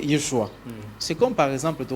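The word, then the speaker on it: ישוע: Jésus est sa prononciation français. Mais hébreu, bango bazo prononcer Yeshua.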